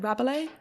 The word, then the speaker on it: Rabelais: So it's based, like you said, on how do you pronounce it? Rabelais?